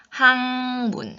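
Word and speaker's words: 학문: 학 문 학 문 어떻게 해봐요 기억 소리로 발음하지 않고 하앙 항문 같은 연구 개소리 중에 아 비 우 민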